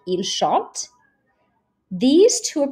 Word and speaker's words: chante: So if you're pronouncing verbs and you say a sentence like il chante, these two are pronounced exactly the same. You don't pronounce the T at the end because it's not one of these consonants, C, R, F, or L.